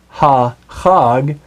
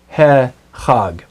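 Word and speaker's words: הֶחָג: So instead of saying ha chag, you actually say he chag.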